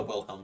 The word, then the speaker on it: Wilhelm: do it well the Willems scream you can't do that well I said The Wilhelm scream and say anything about um I think he mispronounced it but I will Helm